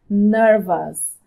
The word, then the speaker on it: nervous: Nervous. Nervous. Ok? Careful. Cuidado com a pronúncia do O-U-S no final. Tem uma pronúncia de us. Us. Nervous. Nervous, ok?